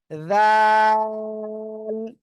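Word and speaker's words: ذ: জাল জাল ওই জিহ্বার আগা উপরে সামনের উপরে দুই দাঁতের আগার সাথে লাগান জিহ্বার আগা সামনের উপরে দুই দাঁতের আগার সঙ্গে লাগান জিহ্বার আগা সামনের উপরে দুই দাঁতের আগায় লাগান লাগান লাগিয়ে নরম করে উচ্চারণ করতে হবে জাল সবাই একসাথে বলেন জোরে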